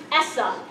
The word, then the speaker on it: ESSA: act and it's pronounced Essa okay so if you heard someone talking about Essa or if you see this in your cards you should just say it you say it as a word so anyone in education